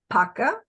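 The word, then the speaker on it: пока: saying bye to friends it's Paca Paca you Paca one time but most people say Paka Paka Paka Paka so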